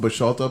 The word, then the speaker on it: Boschulte: ID when I vote, because first of all, my name is pronounced Boschulte but spelled with an E instead of an A, and somebody might put